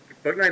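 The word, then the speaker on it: Bouknight: anything on them um fortnite looks good I think that's the way you pronounce his name b-o-u-b-o-u and then Knight as in late night in shining armor so um yeah they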